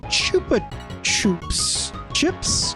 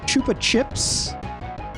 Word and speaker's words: Chupa Chups: The Chupa Chups. Chupa Chips? I always said Chupa Chips growing up. I never said Chups.